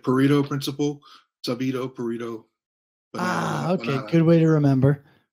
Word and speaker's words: Sabido: For some reason, I always kind of want to say Sabido too. So yeah, it looks that like that, but it's, you pronounce it like Pareto principle, Sabido, Pareto.